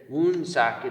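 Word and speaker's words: Woonsocket: good buddy he said wound socket is the way you say it because i guess that's how the the the tribe back in the day pronounced it i believe or something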